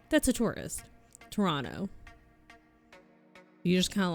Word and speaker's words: Toronto: Oh, they don't pronounce the second T. If you say it Toronto, if you if you annunciate Toronto, if you say Toronto, that's a tourist. Toronto, you just kind of like throw it out there.